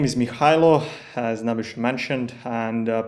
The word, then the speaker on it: Mihailo: as Naish mentioned and people also called me Michael because that's like the American version of my name so if somebody like needs to like American pronunciation that's that's how it can be and uh I've been